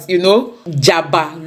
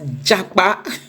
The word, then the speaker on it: Jaba: The presiding judge was actually talking about, Jaba local government in Kaduna State, but funnily he pronounced it as Japa.